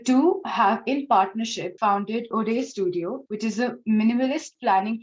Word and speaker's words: Õde Studio: Yeah, so it's Ode Studio.